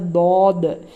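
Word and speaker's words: ض: சாத் சாத் சாத் சாத் இதை இந்த லெட்டர் என்னன்னா தமிழ்ல எப்படி ழா ஸ்பெஷலோ அந்த மாதிரி அரபிக்ல இந்த தாத் தாத் இது தேல் மாதிரி உச்சரிக்க கூடாது இது தேல் லைட் லெட்டர் இது தாத் நாக்கினுடைய இப்ப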